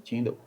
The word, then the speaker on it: Tyndale: Como é que se pronuncia mesmo? Tyndale.